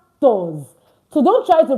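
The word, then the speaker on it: quatorze: 14 is ctors. This is it. It's pronounced ctors.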